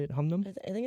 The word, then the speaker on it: Hunnam: Humnam? I think it's Hunnam? Hunnam? Humnan? Humnan? It's Hunnam.